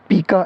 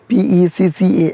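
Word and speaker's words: PECA: तो इसका आंसर है पीका एक्ट या पैका एक्ट, इसको प्रोनाउंस करेंगे PECCA एक्ट।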